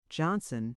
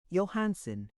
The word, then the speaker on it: Johnson: Johnson has been guilty of speaking his mind too freely and has collided two or three times with Wolf Larson over the pronunciation of his name Yansen. He thrashed on the Amid ship's deck the other night since which time the maid has called him by his proper name.